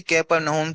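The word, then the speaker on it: Capernaum: कुछ लोग इसे कफरनम पढ़ते हैं। लेकिन असल में यह क्या है? इसका उच्चारण कैपरनम है।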